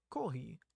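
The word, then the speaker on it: コーヒー: Kohi, or kohi, is the Japanese pronunciation for coffee.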